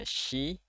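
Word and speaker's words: し: Lalu ada shi, ini dibacanya shi, bukan si tapi shi.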